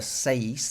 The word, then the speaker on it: seis: like that okay similarly if you remember seis the number six the it tells you that the I is like an e sound doesn't it so it's a seis and that is always